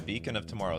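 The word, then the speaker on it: Beacon of Tomorrows: cards in this game beckon of tomorrow's or beacon sorry beacon of tomorrow someone's going to get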